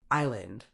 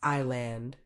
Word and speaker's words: island: silent just say debt Island the S is silent so it's Island mischievous it's mischo not